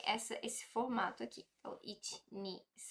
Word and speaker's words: へ: a gente não vai ler ele mais como r e sim como e e é como se tivesse ap apaga o h ali e fica só e mas a gente só